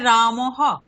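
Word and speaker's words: রামঃ: Sir hello শোনা যাচ্ছে madam বলুন শোনা যাচ্ছে শোনা যাচ্ছে বিসর্গের উচ্চারণ হকারের মত হবে যেমন রামহ এখানে উচ্চারণটি হবে রামহ অর্থাৎ যে স্রবর্ণের পরে বিসর্গ থাকবে বিসর্গের স্থানে হকার বসিয়ে হকারের পরে সেই স্বরবর্ণটি যুক্ত করে উচ্চারণ করতে হবে।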